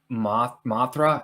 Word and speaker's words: Mothra: Dude, that shot of Mothra, is that how you say it? Mothra, yeah.